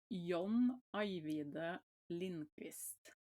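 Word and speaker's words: Lindqvist: And what was the pronunciation for his last name because I've been Oh, it's um so it's Yonida Lindfist.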